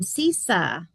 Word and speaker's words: Cisa: Um, CISA, you said it right. Thank you. Okay. Yes. I always have to lead with CISA rhymes like rhymes with Lisa or sounds like Lisa.